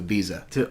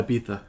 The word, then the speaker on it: Ibiza: I think I would send you personally to Ibiza. Oh God. I might not come back. It's pronounced Ibiza. Yeah, Ibiza.